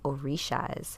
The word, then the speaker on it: Orisha: Tonight's talk, we are going to talk all about the Orishas or Orishas, however you want to pronounce it.